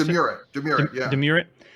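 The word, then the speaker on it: Domurat: How you pronounce it? Demurret, yeah.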